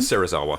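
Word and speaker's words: Serizawa: Sarzawa. Sarrazawa. Um which I tried to spell it out phonetically how I heard it from.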